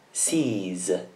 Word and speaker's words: sees: Sempre con una Z perché il verbo finisce con vocale. Sees.